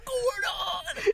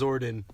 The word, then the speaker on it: Zordon: Oh, thank you for my power, Gordon. It's Zordon, Tony. Oh my gosh. Yeah, Gordon's a weird name. Gordon. I thought it was like Gordon. Yeah, but Gordon. It's actually pronounced Zordon.